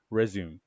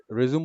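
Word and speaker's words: résumé: হ্যাঁ, বাট রেজিউম বলতেছে হচ্ছে ইংলিশে। যখন ফ্রেঞ্চ পিপল অথবা যারা ল্যাটিন শিখে, তারা যখন এটা বলবে তখন আবার তারা বলবে রেজিউমে, কারণ এটা French, that is the French way of pronouncing this thing.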